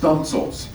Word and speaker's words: studding sails: And my favorite here is Victory had what we call studding sails, pronounced stunsails.